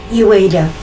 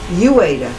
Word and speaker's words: Uyeda: Did I say it correctly? Uyeda. Uyeda, okay. As in you wait a minute.